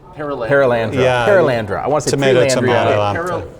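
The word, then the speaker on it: Perelandra: And then I really love, am I saying it right, Paralandria? Paralandra.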